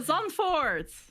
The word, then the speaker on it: Zandvoort: Oh, Zandvoort.